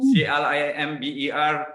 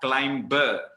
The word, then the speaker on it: climber: Now the pronunciation of this word is not climber, it's climber. Silent B.